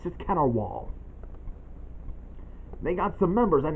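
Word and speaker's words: Cat R. Waul: just that I pointed out to you it's pronounced catar wall not a wall the cat or our wall of the cat it's just cater wall they got some members and that's Archbold Snatcher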